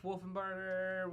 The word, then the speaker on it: Wolfenbarger: You could either call him Max Wolf, Wolfenbarger, Wolfie. You pronounce it right, Max Wolfenbarger.